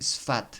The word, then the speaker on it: Sfath: un anciano Plejaren de nombre Sfat, se escribe Sfath.